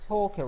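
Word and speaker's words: TOCA: Pronounced Torca race driver.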